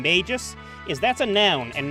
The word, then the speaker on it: Magus: Magus instead of Magus. The problem with saying Magus is that's a noun and not a name. I always pronounce it Magus because that's how I heard it pronounced in Gargoyles.